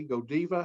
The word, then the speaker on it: Godiva: a company such as godiva okay and by the way this is not godiva this is go diva that is the way they pronounce it in belgium in case you're unaware